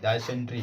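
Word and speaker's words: dysentery: फिर है डायसेंट्री, DYSENTRY, डायसेंट्री, डायसेंट्री means होता है आँव। तो यहाँ पे आपका वाई जो है वो साइलेंट है एक तरीके से।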